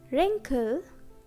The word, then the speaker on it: wrinkle: So letter W is silent. Next, right, wrap, wrist, wrinkle, and wrote. Now, if a word begins with WH, then letter W will be silent.